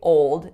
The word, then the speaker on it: old: changed my faul so the correct way to say old is an O vowel going right directly into that dark L so it sounds like ole-ole of course followed by that d what I did was